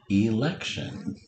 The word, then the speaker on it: election: Our next sound is sh. Made by T-I.